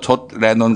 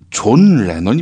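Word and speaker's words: John Lennon: 지겠지요 그 머리 모양새가 꼭 거 좋 레논 낮다고 해서 이 발음 똑바로 해 주시죠 존 레논 입니다 존 레논 내 맘이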